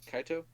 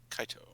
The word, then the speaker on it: Kaito: Kaito, how do you pronounce that? Kaito. Kaito.